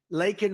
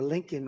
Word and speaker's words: Laken: the Biden migrant crime lakan Riley and you know uh Biden was unable to pronounce her name called called her Lincoln Riley and this was right